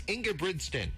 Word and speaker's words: Ingebrigtsen: We actually had to study it, but thank you so much for actually pronouncing your last name first. It's Ingebrigtsen.